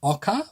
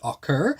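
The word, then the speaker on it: ocker: He uses a term that is pronounced in Australia as ochre, or maybe if you're in America, you might pronounce it ochre.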